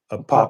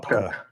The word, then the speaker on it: Apopka: I never can pronounce that. Popka. Apopka, yeah, Yeah.